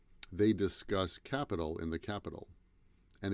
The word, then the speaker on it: Capitol: but the pronunciation is the same. Capital, capital, capital, capital. And the T in capital sounds more like a D. Capital. That building is called the Capitol.